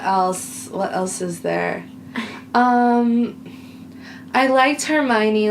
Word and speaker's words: Hermione: I liked Hermione, like, standing up to Cho, being like, okay,